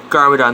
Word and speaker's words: Garmadon: defend ninjago city from his dead or garmadon garmadon that's how you say it when the film